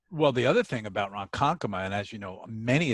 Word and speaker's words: Ronkonkoma: I'm Lee ro and Kon koma you know Ron Conn coma that you goo bachelor GUI patch a gooey